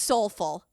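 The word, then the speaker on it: SOLEful: of Life or something, but it's pronounced Soulful.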